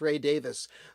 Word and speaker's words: Ray Davies: And uh, no, it's not uh, Rick Rick Davis because I know that um, Ray Davis from the Kinks, everybody pronounces his name Ray Davies and it's not that. It's Ray Davis, but Rick Davies from